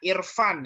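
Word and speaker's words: عرفان: Iya, itu bacanya Irfan ya, lebih tepat Irfan, bukan Urfan.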